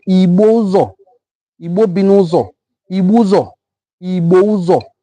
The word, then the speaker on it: Ibusa: Communities like Ibozo, Igbo Binuzo, Ibuzo, Ibouzo is the name. It is spelled like this, I-B-U-S-A, Ibusa.